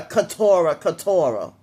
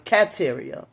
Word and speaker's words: Kateria: But Mark kept on saying her name wrong and calling her Katora. And the rest of the family was saying her name wrong too. I guess they were saying Canteria. I didn't realize her name was Kateria.